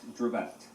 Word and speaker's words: Dravet: So it is pronounced Dravet.